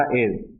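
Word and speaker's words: heir: तो यहां पे एच साइलेंट रहेगा आपका। इसका प्रोनाउंसिएशन होगा एयर।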